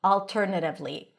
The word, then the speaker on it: alternatively: You can either pronounce it with an a as in daughter. It's a more rounded version of the open a sound or a alternatively. Choose whatever you want.